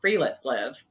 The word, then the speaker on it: friluftsliv: They have this cultural philosophy called Friluftsliv. It's spelled Fruftsliv.